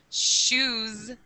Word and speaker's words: shoes: Or even, you know, you have shoes. It ends in an S, but it sounds like a Z.